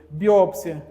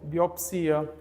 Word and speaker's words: biópsia: acrobata biótipo e Biotipo autópsia e autopsia biópsia biopsia Então muitos desses casos podem ser a dupla prosódia gente tá certo então existe nas gramáticas uma relação desse grupo de palavras que podem ser essas Essas duas pronúncias aí então przo Exatamente isso